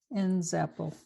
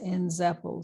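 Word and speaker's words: Nzeppel: thing we're going to do is look at ends Apple and that is spelled n z e p p e l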